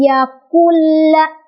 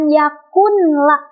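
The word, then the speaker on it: يكن له: Jadi walam yakulla, bukan yakunla, bukan, ya. Tapi yakulla, langsung ke lamnya. Tanpa ditahan atau tanpa didengungkan.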